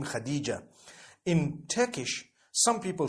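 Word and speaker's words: Hatice: came across the name Khadijah in Turkish some people spell it h a t i c e I would say hatis for that no it's actually Khadija in Turkish that's the way they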